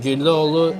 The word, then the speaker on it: Güllüoğlu: that we're in, and Güllüoğlu is the last name of the owner. So we spell G with G. Güllü. Oh, and this one we call soft G in Turkish. Okay. And it's silent.